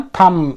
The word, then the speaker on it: thumb: थंब जो हमारा अंगूठा होता है THUMB, उसका स्पेलिंग होता है ना, लेकिन उसे हम थंब उच्चारित करते हैं।